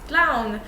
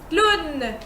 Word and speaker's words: clown: You recognize this word, it's clown, but in French it's clown. Yeah, that sounds weird, but we just don't pronounce it. I think it just brings O to just make the sound oo. Clown, okay? So you don't pronounce W.